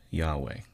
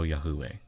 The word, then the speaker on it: Yahweh: And I put Yahweh. I don't want people to go Yahuwah when they read. So, the W is simply a double U, right?